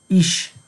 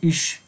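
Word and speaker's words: ich: له زه څخه، چې زه ته په آلمانی کې څه وایي؟ ایش، ایش. او کیدای شي چې ایش هین هم تلفظ شي لکه ایش.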